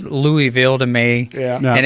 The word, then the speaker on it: Louisville: other than Louisville Louisville Louisville you get this question there's no I it's l u h v u l l l Lille and